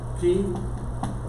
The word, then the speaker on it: chi: una X, así es, y se pronuncia ki, ¿verdad?